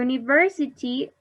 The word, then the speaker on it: university: or a university you university starts with letter u with a vowel but this sound is like you you write like a letter y not exactly as a